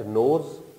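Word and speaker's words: knows: Next नोज। के silent है, एन की स्ट्रोक, स्मॉल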